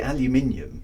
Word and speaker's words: aluminium: Because we say aluminium because there's an I before the U, right?